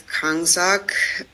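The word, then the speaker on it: གང་ཟག: person or individual is it's kak in tietan and so actually has two syllables and if you separate those two syllables they each mean something else so Kong actually refers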